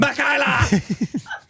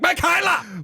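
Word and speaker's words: Makaylah: Makhaila! THAT'S HOW IT'S SPELLED.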